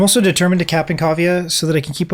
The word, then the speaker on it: Cavia: I'll say it slower. Cavia. C-A-V-I-A. Cavia. At least that's how I pronounce it.